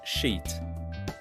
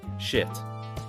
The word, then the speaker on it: sheet: Many people pronounce it wrong. They say something like shit. Yes. And that changes everything. Exactly. Very different meaning. So, sheet is long sound. Sheet. Stretch it.